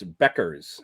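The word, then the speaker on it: Bueckers: It's not pronounced like Bob Euchre. It's Beckers.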